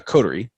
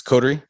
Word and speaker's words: Coterie: so so when somebody comes um to uh coterie it's codery yes yeah okay all right i think i